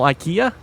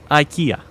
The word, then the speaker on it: IKEA: But, uh, here's the thing again, English pronunciation, IKEA. I'm sorry, but that is probably the right pronunciation. I don't think you can uh disagree with that. That may not be the way they want it pronounced, but based on the spelling, that is, unless I'm mistaken, that is how it's pronounced.